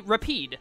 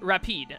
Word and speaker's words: Repede: By the way, people told me how to pronounce the dog's name. It's apparently Repede is how you say it.